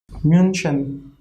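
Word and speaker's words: München: be we are writing here in hindi but pronunciation will be really less mentioned okay mention and here this will be munchen okay munchan so for ch we can say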